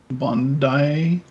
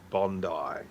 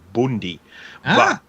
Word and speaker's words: Bondi: as i've said before it is based on an aboriginal word which is pronounced bundy in australia in australia that's just